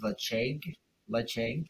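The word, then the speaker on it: Ledaig: This is Lecheg, so spelled with a D-L-E-D-A-I-G, Lecheg 10, it's a nice peated Highland whiskey.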